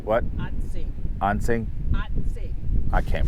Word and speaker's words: Assateague: It'll be in the title, but I can't even pronounce. Say Assateague. What? Assateague.